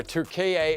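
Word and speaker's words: Türkiye: really good point there 2ka is the correct pronunciation of the country they did Rebrand and we should be saying it correctly old habits die hard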